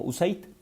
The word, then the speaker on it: USAID: el Desarrollo Internacional, USAID, que nosotros en México pronunciamos como USAID.